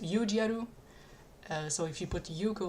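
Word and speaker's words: ユージアル: I think it's a pun because in Japanese Udial is pronounced Yujiaru.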